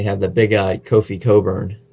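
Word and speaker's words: Cockburn: And then they have the big guy, Kofi Coburn. No, it is not pronounced the way it is spelled.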